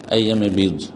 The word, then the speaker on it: আইয়ামে বীজ: আইয়ামে বীজ কথাটি বীজ, আপনি বীর্জ লিখেছেন। এই শুদ্ধ উচ্চারণগুলি আপনারা ঠিক করে নেবেন, আর না হলে বাংলায় বলবেন আইয়ামে বীজ।